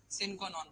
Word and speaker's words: sine qua non: हो, most essential ingredient, साइन qua non बोल दो या sin qua non बोल दो, is considered